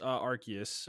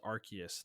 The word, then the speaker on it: Arceus: So yeah, Pokemon Legends Arceus. I learned that this week that the pronunciation is Arceus, not Arceus. Okay.